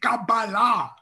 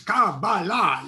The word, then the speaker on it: Qabalah: You don't even say Qabalah correctly. It is Qabalah."